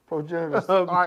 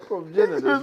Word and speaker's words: progenitors: I wanted to get progentors. I folded five different ways. Okay. Okay. Progenitors progenitors.